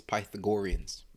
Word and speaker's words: Pythagoreans: mix it up but to say it properly it's pythagoreans okay and just to